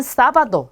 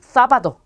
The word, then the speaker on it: sábado: 에세입니다. 에세. 자, 근데 이 에세도 쌍시옷으로 발음하는 게 맞지만, 자, 일부 지역이나 스페인에서는 쓰 발음이 나요. 그래서 th 발음이 난다라고 생각하시면 돼요. 자, 그러면 얘는 sombrero 또는 sombrero 이렇게 발음하는 경우도 있고요. 얘는 sábado 또는 sábado. 얘는 siempre 또는 siempre 이렇게 되겠죠. 자, 이 솜브레로는 모자란 뜻입니다.